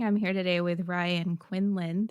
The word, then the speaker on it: Quindlen: I'm here today with Ryan Quindlen. The D is silent.